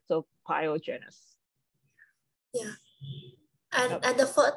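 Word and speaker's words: pyogenes: iene yep biogenesis so this is actually a Latin name right so we pronounce every word so pyogenous yeah and and the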